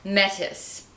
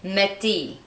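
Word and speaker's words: Métis: from the store manager, this is pronounced, she said Metis. But I think the French way to say this would be Metis.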